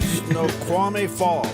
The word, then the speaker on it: Snoqualmie Falls: Snoqualmie Falls.